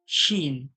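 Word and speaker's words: سين: এই যে যা বললাম জীবের আগা উপরের দাঁতের আগা বা নিচের দাঁতের আগা মিলিয়ে যে জীবের আগাটা লাগছে যা ঠিক সেইভাবে সিন বলবো ওইভাবে লেগে সিন দুটো দাঁত একই সঙ্গে লেগে জীবের আগাটা ওই দাঁতের মাঝখানেই যাবে দিয়ে বলতে হবে সিন সিন সিন সিন এটা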